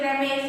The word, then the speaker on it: रमेशः: बट in Sanskrit, अभी हम लोग संस्कृत सीख रहे हैं, तो इसमें रमेश ना बोल करके रमेशः, वर्ड स पे ह की तरह उच्चारण करना है।